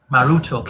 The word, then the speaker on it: Marduk: the city of Babylon Marduk is the name commonly associated with the deity in modern times however it was actually pronounced maruto in Babylonian scholars believe that this